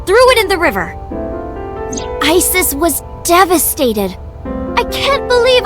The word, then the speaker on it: Isis: Horus's mom is named Isis, but in ancient Egyptian, it's pronounced closer to Isa or Aset.